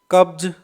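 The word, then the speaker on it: cubs: कब्ज, ये बे है, ये देखिए बे, तो बे होने के कारण इससे एस का उच्चारण होगा जैसे लास्ट में जय, कब्ज।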